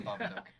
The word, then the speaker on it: Babadook: Is that how you pronounce it? It's the Babadook. It's the Babadook.